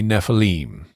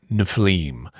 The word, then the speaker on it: Nephilim: pronouncing it would be Nephilim or Nephilim um Hebrew unlike English likes to put the accent on the last syllable on the Ultima so anytime you're looking